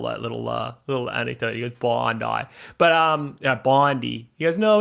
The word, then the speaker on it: Bondi: pronounced, it's called Bondi. Bondi, not Bondi.